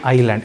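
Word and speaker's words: island: ಅದು ದ್ವೀಪ ಒಂದು ನಿಮಿಷ ಐಲ್ಯಾಂಡ್ ಎಸ್ ಸೈಲೆಂಟ್ ಆಗುತ್ತೆ ಕಂದ ಐಲ್ಯಾಂಡ್ ಐಲ್ಯಾಂಡ್ ಆಯ್ತಾ ಐಸ್ಲ್ಯಾಂಡ್ ಅನ್ನ ಬರೆದು ಐಲ್ಯಾಂಡ್ ಐಲ್ಯಾಂಡ್ ಓಕೆ ಅಲ್ಲಿ ಐಸ್ಲ್ಯಾಂಡ್ ಐಲ್ಯಾಂಡ್ ಹೌದಪ್ಪ ಐಸ್ಲ್ಯಾಂಡ್ ಅಂತ ಕೊಟ್ಟಿರ್ತಾರೆ ಬಟ್ ಎಸ್ ಸೈಲೆಂಟ್ ಆಗುತ್ತೆ ಆಯ್ತಾ ಎಸ್ ಉಚ್ಚಾರಣೆ ಮಾಡಲ್ಲ ನಾವು ಸರಿನಾ ಏನಿದು ಟಿ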